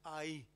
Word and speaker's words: Ai: How do you pronounce that? A-A. Ai. Australian, man. Language is complicated, man. Ai. This is Spanish. Ai. Simple.